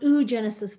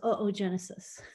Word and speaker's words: oogenesis: It's not pronounced oogenesis though, it's oogenesis.